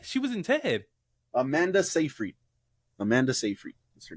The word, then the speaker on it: Seyfried: Seyfried. Sey Fried. The last part is spelled fried.